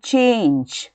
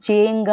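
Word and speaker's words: change: ಈಗ ನೋಡಿ ಚೇಂಜ್, ಇಲ್ಲಿ ನಾವು ಜಿ ಅಂದರೆ ಸಾಮಾನ್ಯವಾಗಿ ಸೌಂಡ್ ಗ ಅಂತ ಇರುತ್ತೆ, ಆದರೆ ನಾವು ಚೇಂಗ ಅಂತ ಹೇಳೋದಿಲ್ಲ, ನಾವು ಚೇಂಜ್ ಅಂತ ಹೇಳ್ತೀವಿ. ಇಲ್ಲಿ ಇ ಹಾಕೊಂಡ ಕಾರಣ ಇದರ ಏನಾಯಿತು, ಉಚ್ಚಾರಣೆ ಸಾಫ್ಟ್ ಆಯಿತು, ಜ ಅಂತಾಯಿತು, ಚೇಂಜ್ ಅಂತಾಯಿತು.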